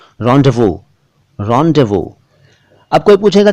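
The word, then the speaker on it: rendezvous: लफ्जों के बारे में इतनी गहराई मत जानिए, बल्कि इतना जान लीजिए फिलहाल कि इस पर्टिकुलर शब्द का उच्चारण रॉन्डेवू है। रॉन्डेवू और रॉन्डेवू दोनों हैं।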